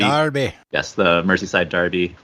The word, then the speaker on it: Derby: mercy side Derby or Darby as they pronounce the word Derby Darby yes the mercy side